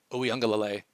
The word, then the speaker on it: Uiagalelei: Behind him is undrafted free agent DJ Uiagalelei. Now, if you thought I was going to wait 5 months for NFL videos and not pronounce Uiagalelei properly in the first video back, you're out of your mind.